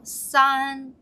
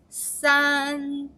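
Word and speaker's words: 三: you fly to the san francisco sun right so the sun tip is three kids are playing in the sand sun sun okay very good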